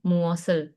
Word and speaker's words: 무엇을: Kalau dibacanya sesuai dengan aturan itu berarti bacanya gini dong, muosel.